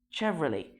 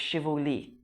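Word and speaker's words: Chevrolet: شيفرولي مش شيفولي، لاني بسمع ناس كتير قوي بتقول شيفولي.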